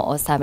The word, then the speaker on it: ASUM: All right, guys, I had to ask how he pronounces his name. You said ASUM. It's ASUM, yes.